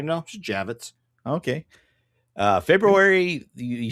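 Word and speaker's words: Javits: Uh it's actually pronounced exactly how it's spelled. Javitz. Javitz. Nothing special about it. I thought it Javitz with a Y. No, just Javitz.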